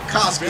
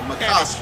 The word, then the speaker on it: Makovsky: Makovsky is his name. That's how you pronounce it. Makovsky.